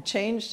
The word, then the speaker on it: change: A change to the Constitution. That's right. So when you say change, you have to have this just sound at the end. Change.